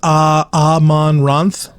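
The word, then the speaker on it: Amaranthe: Cyborg says it's pronounced Amonranth.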